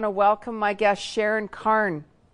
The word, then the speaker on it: Carne: welcome my guest sharon Karn is it Karen her car it's car car I did say it right we're just talking about